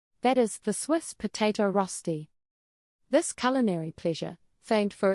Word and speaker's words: Rösti: Rösti, pronounced Rösti, is more than just a side dish, it's a cultural icon.